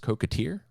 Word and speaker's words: coquetier: Yeah, and I may pronounce this wrong, but I believe it's pronounced coquetier, and it's a special type of cup.